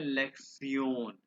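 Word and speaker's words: Lektion: अच्छा, ये जो TION लेक्शन है ना, इसको कहते हैं लेक्चर, ठीक है। और ये इसको प्रोनाउंस करते हैं लेक्सियोन। ये TION को बोलते सियोन, ठीक है।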